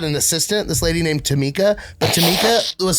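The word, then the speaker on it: Tomikki: assistant this lady named Tama but Tama was spelled t o m i k k i that's Tommy key but but but but she pronounced it Tama so that's how you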